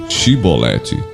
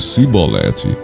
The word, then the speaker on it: Shibolete: Se respondesse que não, diziam: então diga Shibolete. Se ele dissesse Sibolete, sem conseguir pronunciar corretamente a palavra, prendiam-no e matavam-no no lugar de passagem do Jordão.